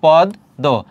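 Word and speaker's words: পদ্ম: Common পাবে তাহলে দেখো শুরুতে আর শেষে যদি বফার ম ফলা থাকে তার উচ্চারণ হয় না। কিন্তু যে বর্ণের সঙ্গে থাকবে সে বর্ণটি দত্ত হবে। এখানে ম ফলা আছে শেষে। তাহলে মর উচ্চারণটা হবে না। অর্থাৎ যে বর্ণের সঙ্গে আছে সে বর্ণটি দত্ত। দ এর সঙ্গে আছে দ দুইবার হবে।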